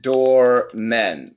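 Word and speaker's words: doormen: uh door man and door men so perfect pronunciation is easy uh this is door man and this is door men so it's a short a and this is a short e so if the American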